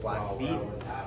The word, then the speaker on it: Blackfeet: Blackfeet. That's how you pronounce it.